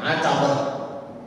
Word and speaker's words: Utbah: sebelah sana pemilik kurma itu namanya utbah ada yang membacanya atabah nah pemilik kurmaah ini